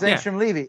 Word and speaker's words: Angstrom Levy: Angstrom Levy. Yeah. It's Angstrom Levy.